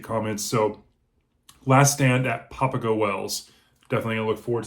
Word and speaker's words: Papago: I definitely definitely and it's papao Wells not Papago so papao Wells The